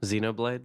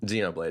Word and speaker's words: Xenoblade: you know blade what Xenoblade that's how you pronounce it Xenoblade yep how did you